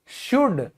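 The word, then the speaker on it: should: आया है ओके चाहिए शुड शुड में भी एल क्यों साइलेंट है क्योंकि यह वोवेल के बाद आया है फिर आधा हाफ क्योंकि यह ए के बाद आया है।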